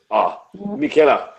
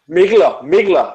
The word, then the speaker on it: Mikkeller: So I don't think there's a right or wrong pronunciation because you can emphasis on Keller or you can put emphasis on Mikkel.